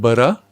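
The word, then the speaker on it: burgh: You pronounce it ba. You write b o u r g h.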